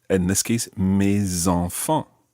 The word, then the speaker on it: mes enfants: So normally the S is silent, but when it's followed by a vowel, it becomes mes. In this case, mes enfants. Mes enfants.